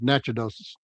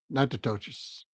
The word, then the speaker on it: Natchitoches: Sort of like Nacogdoches, almost Natchitoches. Natchitoches.